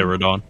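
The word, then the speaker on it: Radahn: I just got done beating Radon. Is how you say his name? Yeah, Radon.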